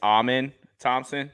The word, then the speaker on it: Amen Thompson: It's Amen Thompson.